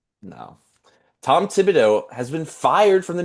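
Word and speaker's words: Thibodeau: Cuz sometimes they'll say Thibido. I'm like, no. Tom Tibido has been fired from the New York Knicks.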